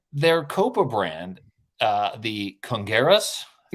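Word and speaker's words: Congueros: annoying and then their copa brand uh the congarus correct my pronunciation there for me ed congeros congress thank you don't don't i need you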